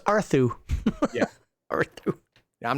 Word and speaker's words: Arthur: Yeah, his name's pronounced Arthu.